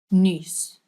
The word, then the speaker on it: nuus: because if you do, it means you've learned the ch and the nuus, which is what makes that word a bit harder than others. So this one is u. You're making this weird shape with your mouth. U.